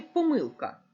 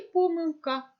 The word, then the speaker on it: помилка: літерою г помилка чи помилка чи думали ви про це як правильно наголошувати запам'ятайте що це слово має подвійний наголос правильно говорити і помилка і помилка Протягом цього уроку ми